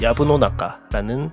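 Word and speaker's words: 藪の中: 일본어로는 야부노나카라는 발음이 되겠습니다.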